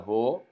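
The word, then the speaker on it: ὁ: artikelnya sendiri yang tunggal Ho kalau yang jamak badannya Hei jadikan tanda koma Terbalik itu ada hembusan ha jadi bukan Oh tapi wow kalau ini komennya koma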